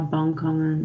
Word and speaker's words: bankhangen: Het woord van de week is bankhangen. You can practice with the pronunciation. Bankhangen. So pay attention of the NK and the NG combination.